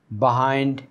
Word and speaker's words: behind: চারপাশে, so that, যাতে করে, I could crawl বিহাইন্ড them, অর্থাৎ আমি সেগুলোর পেছনে যাতে লুকাতে পারি।